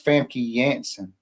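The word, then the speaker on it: Famke Janssen: The J the J has a Y still it retains the Y sound. So it's Fami Yansen or Jansen actually.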